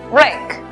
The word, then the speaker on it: wreck: La W es muda. Por lo tanto, la pronunciación es wreck.